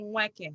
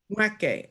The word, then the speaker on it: Nweke: You swallow the N, so it's Nweke. You like swallow the N. Nweke.